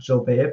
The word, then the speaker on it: Gilbert: My first name is Gilbert, which is actually French, so you pronounce it Gilbert, but no one pronounces it unless you go to France.